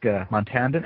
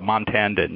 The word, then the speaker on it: Montandon: or question for montandon am I am I pronouncing your last name correctly um you just got closer I think the the first time was a little off but uh montandon yeah so but but